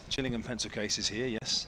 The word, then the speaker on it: Gillingham: Hence the Gillingham pencil case. Correct. Gillingham pencil case is here. Yes. Not Gillingham as when you live down here more people say Gillingham in Dors.